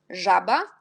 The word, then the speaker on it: żaba: Et quand j'ai déjà marqué Z avec petit point, jet, on prononce J, et RZ, on prononce aussi J. Par exemple, żaba, rzeka.